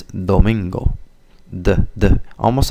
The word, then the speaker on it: Domingo: it would sound like Domingo definitely has a gringo accent there so you have to use the tip of your tongue more so instead of Domingo it's Domingo the the almost like